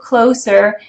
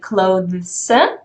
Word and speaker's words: clothes: You're supposed to be saying like clothes, or then you contract it to clothes. But from native speakers, you often hear it pronounced as close, like the door that you close.